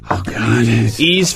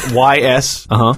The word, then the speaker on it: Ys: The worst is when I would go into GameStop asking, do you have the Ease for PSP? It's just What are you talking about? Like YS? Oh, no, that's it. YS.